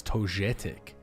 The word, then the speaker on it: Togetic: Nintendo he says it's totic oh it's a soft G in that kind of way totic thank you chat